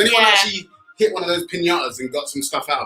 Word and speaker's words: piñata: What do you traditionally have in a piñata? You have to say it like that. Piñata.